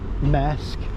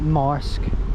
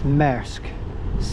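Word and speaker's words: Marske: us over to mque that is how you pronounce it MK not Mark or Mar it's MK 1587 93 once again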